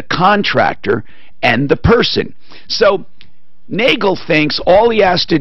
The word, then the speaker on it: Nagle: yeah and he is his name spells more like Nigel or Nigel but his hey he pronounces it Nagle I believe when he called you this morning Suzanne he said he is Kevin Nagle right that's correct Tom